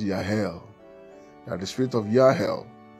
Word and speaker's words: Jahel: us understand that the spirit of Jahel, actually pronounced Yahel, that the spirit of Yahel shall begin to prevail in the church of God.